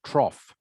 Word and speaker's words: trough: But if you put a T on the front of it, it's pronounced trough.